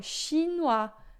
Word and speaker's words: chinois: a, né, em francês, o i vai ser sempre som de UA, e o S final a gente nunca pronuncia, né, exceto em algumas exceções que a gente vai ver mais pra frente.